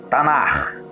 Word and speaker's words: Tanakh: Compêndio este chamado de Tanar, pronunciado como Tanar.